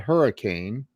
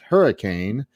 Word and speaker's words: Hurricane: refer to it as hurricane they refer to it as hurricane hurricane hurricane hurricane west virginia hey where are you from hurricane really they almost say it in one syllable it's it's really it's